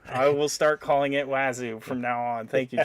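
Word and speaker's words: Wazuh: It's J-Pat says it's definitely pronounced Wazoo. I will start calling it Wazoo from now on.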